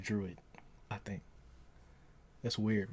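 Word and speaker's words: Druig: yeah, it's Druid, yeah, or no, it's drug, it's Drug, but it's Druid though. It's what? It's spelled with a G at the end, but they pronounce it like Druid, I think.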